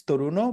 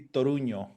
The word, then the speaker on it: Toruño: Well, it could be like in English and anything that is not Spanish is Toruno, but in Spanish Toruno. will be Toruño.